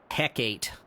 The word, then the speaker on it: Hecate: Hecate Hades 2. You gota you got to pronounce the E.